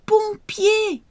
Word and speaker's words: pompier: Appelez les pompiers. Appelez les pompiers. O-M for mother. Pompier.